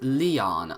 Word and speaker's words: Lion: Lion? Who the heck are you? It's written as that, but pronounced Leon.